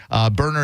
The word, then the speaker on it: Boerner: Berner is spelled Boerner if you're looking it up.